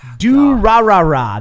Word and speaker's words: Durarara: pronounce the the show that I can never pronounce when you're Muslim Akita is it's dirt Durarara there's a lot of hoorah barrage yeah okay